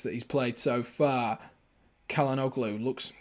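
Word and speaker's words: Çalhanoğlu: that 10 minutes that he's played so far kellen o'glow looks kalanoglu does how you pronounce his name yeah it is i i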